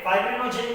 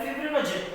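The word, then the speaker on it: fibrinogen: Okay, फाइब्रिनोजेन या फिर फिब्रिनोजेन ऐसा उसका प्रोनाउंसिएशन है।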